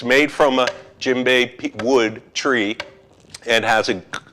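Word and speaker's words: djembe: bay this drama is the gym bay drum it's spelled d-j-e-m-b-e like david jeremy dj not too many words start with dj and by definition if it's made from a jimbei wood tree and has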